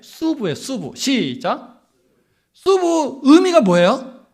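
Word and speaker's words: sub: 근데 라틴어는 어로 발음을 안 해. 그냥 발음, 단발음인데 수부예요.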